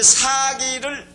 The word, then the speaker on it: 사기: 이걸 짧게 발음하면 사기꾼 할 때 사기가 됩니다. 그래서 좀 발음을 길게 하는데, 이 사기를 지은 사람이 누굽니까?